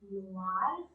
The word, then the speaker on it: noir: So the masculine form will be noir, noir, noir, and in the feminine form, just we put an E in the end, and the pronunciation is almost the same, noir, noir, noir, noir.